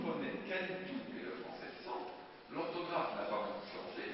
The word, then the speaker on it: cent: E-N c'est EN, et le T on prononce pas, donc c'est sans.